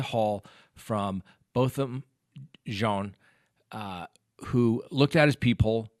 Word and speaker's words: Jean: witness in the bottom jean case now first you may have heard that very French pronunciation where did we get